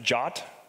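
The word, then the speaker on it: JWT: so first of all JSON web tokens are pronounced jot you all knew that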